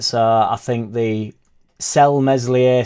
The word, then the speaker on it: Meslier: I think the cell meslier silent s in January get rid